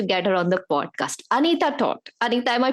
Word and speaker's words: Anita Toth: Anita Toth. Anita, am I pronouncing your name right?